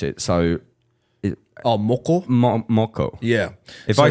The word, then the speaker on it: moko: So, how do you pronounce it? So, Moko? Moko.